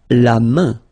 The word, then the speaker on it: la main: So this combination A-I-N is quite interesting because it will give you the sound un. So it's really a nasal, it goes in your nose, okay? And it's un, main, la main.